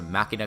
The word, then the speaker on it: Machina: is neat they have the machina cards or machinae I guess it depends on how you like to pronounce it I've always said machina I like these cards